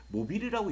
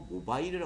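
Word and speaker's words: mobile: 저 같은 경우도 이제 한국 사람들 또 이거를 모빌이라고 읽는 친구들도 있고 모바일이라 읽는 친구도 있어요 근데 보통 이제 모바일이라 많이 읽죠 그 모바일 같은 경우는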